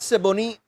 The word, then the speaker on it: Siboney: You have to say it kind of fast now. Siboney. Right? You can't lag.